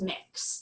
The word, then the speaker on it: Mx: need to use an honorific, you can use mix. That's how the MX dot is pronounced.